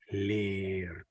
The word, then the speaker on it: leer: So when the lange A, the sound that the letter represents, A, 1, 2, this A, when it is followed by the consonant R, the A is pronounced more like E. It's basically the same sound as ik, except you prolong the sound.